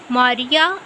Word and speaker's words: Maria: Her name would have been pronounced Maria, as in Maria Carey.